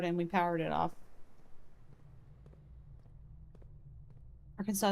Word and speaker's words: Arkansas: Arkansas is pronounced that way because of its French origins.